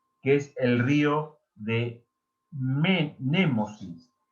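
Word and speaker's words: Mnemósine: es el río de Nemósine. Se escribe un poco raro. Se escribe Memosine. Nemósine.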